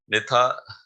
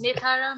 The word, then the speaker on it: Nethara: Our next speaker is Nithara. I'm sorry for that. Can you pronounce it? It's Nethara from Malawi.